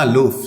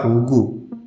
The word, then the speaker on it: Lugh: Kalau di Inggris itu bacanya Luv, sementara kalau di Jepang atau di animenya sendiri dibaca Rugu.